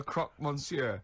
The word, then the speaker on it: croque monsieur: no it's a croque monsieur so it's a croc monsieur a croc monsieur yeah and so i got